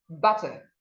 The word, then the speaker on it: butter: The next word is butter, butter, not butter, butter. Remember what I told you about the letter U and the sound it makes.